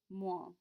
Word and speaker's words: moins: There's that OI combination we've talked about so many times already. That's how you get that wa sound in the middle of moins. Moins. 2 S's we don't pronounce, which means the end of plus sounds exactly like that oo in the middle. Plus ou moins. Moins. It's like a combination of an OI and a nasal sound.